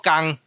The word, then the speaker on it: 天: 即个字就是读作工，工就是上高音。